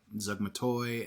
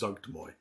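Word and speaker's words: Zuggtmoy: I don't see enough Myconid stuff, especially when you go into Zugmatoi, and you could go with the fungal based zombies. I love watching you pronounce Demon Lord names because it's Zugtmoy.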